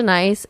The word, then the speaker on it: Nice: Matt miss nice no don't call me knees please it's not my name Matt wait what if I called you mate sly her there's no other way to pronounce that you it's not nice I've been too nice I'm from Paris it's nice it's always been a